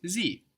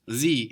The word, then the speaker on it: sie: And of course, sie is like die with an S. Die, sie.